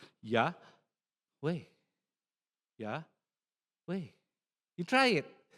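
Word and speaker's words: Yahweh: you say yeah way whenever you inhale you say the first syllable yeah way yeah way you try it it's actually breathing.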